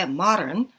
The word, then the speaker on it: modern: 그래서 modern보다는 modern 해서 마 발음에 가깝게 modern, traditional, and country style 이라고 읽어주면 됐었고요.